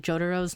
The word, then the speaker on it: Jotaro: pronouncing Jotaro's name because I pronounce it like an American, like Jotaro, with like kind of like instead of a T, I kind of pronounce it with a D, like the way Americans say bottle of water.